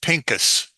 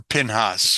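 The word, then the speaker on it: Phinehas: that's in the Bible his name was Pinkus or pinhas whichever you want to Prof pronounce it in the Bible in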